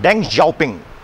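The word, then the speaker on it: Deng Xiaoping: also written A एच एस आई ओ पिंग डंग जा पिंग डंग जा पिंग वास the second big leader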